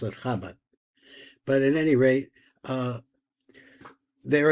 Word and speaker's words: Chabad: What they call it Chabad. We pronounce it Chabad.